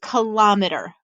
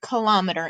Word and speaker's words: kilometer: centimeter a meter and kilometer okay I know it looks like kilometres but most people actually pronounce it kilometer instead of kilo meter okay and we'll talk